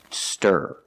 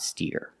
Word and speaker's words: stir: a low position Burger stir stir not steer example he needs to